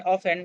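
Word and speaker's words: often: एंड ऑफेन। दोस्तों इसको ऑफेन नहीं पढ़ना है। ऑफेन ही पढ़ना है। यहां पे टी साइलेंट है इसलिए इसको ऑफेन पढ़ना है।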